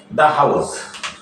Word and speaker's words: the: যে আমরা অনেকে দি উচ্চারণ করি অনেকে দা উচ্চারণ করি আসলে কোথায় দি উচ্চারিত হবে কোথায় দা উচ্চারিত হবে সেটা আমরা বুঝি না তাহলে দেখো